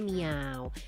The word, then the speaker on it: Miovi: Tulisannya tuh Miovi tapi katanya bacanya miau.